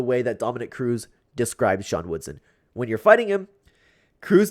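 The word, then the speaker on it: Sean Woodson: lot of criticism because I kept saying Shan woodston I don't know why I keep doing that apologies if I continue to do that I'm working on my pronunciation better don't know why I'm pronouncing this name wrong out of all of them there's some normov names that I can pronounce correctly there's some dastany names that I can pronounce correctly but for some reason I'm messing up sha Woodson regardless let's talk about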